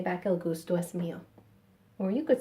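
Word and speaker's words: el gusto es mío: pronunciation tip in spanish if a word ends in a vowel and the next word starts in a vowel they tend to get mushed together which is why it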